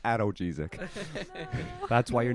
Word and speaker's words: analgesic: It's pronounced analgesic.